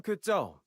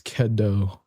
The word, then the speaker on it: Kedo: I'm Kau, a drifter from Kado. If you need a hand, just say the word. Never mind. I was I've been pronouncing his name wrong. It's Kedo.